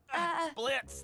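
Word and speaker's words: Blitzo: Are you okay, Mr. Blitz, the O is silent.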